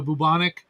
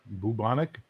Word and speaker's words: bubonic: No, because it sounded like plague like you know bubanic. Bubonic. Can your country learn to pronounce that word?